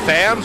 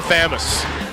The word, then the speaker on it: Thamuz: Is it Thams or Thamuz? It's Tham. Thamuz. Thams? It's Thamuz. Thams. Yeah. We tried to just not say the U.